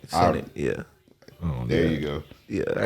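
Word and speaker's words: Kai Cenat: Kai Senate. Senate, yeah.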